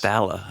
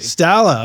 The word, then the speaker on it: Staloch: And co-mixed Atmos projects for Niall Horan, NF, and Bo Staloch. Or Staloch? How is it pronounced? It's Staloch, actually. Staloch.